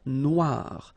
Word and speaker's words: Noire: Okay, then here, la mer Noire. Same thing here that we had previously. Final E not pronounced, okay? And then OI, remember, wa wa wa, Noire.